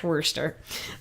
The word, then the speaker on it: Worcester: the way in we're just we're sister Worcester Wurster Moustafa gusta yes that how they say it's Worcester we went to Westchester and sure it's Worcester Wurster Massachusetts so anyways we just lost about like